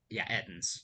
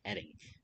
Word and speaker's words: edding: Ettens. I said it right that time. I keep thinking I'm saying Edding. No, not Edding.